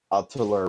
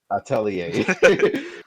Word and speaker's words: Atelier: I mean, so Riesling Stout Ryza from Altiller Ryza. Correct me if I pronounced it wrong. Atelier. Is the right Atelier. Atelier. I'm sorry.